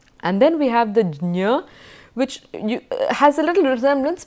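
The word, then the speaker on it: ज्ञ: is that it is a combination of J and Nya, and therefore Jnya, you go over the J really fast, Jnya would be the more accurate pronunciation of this letter.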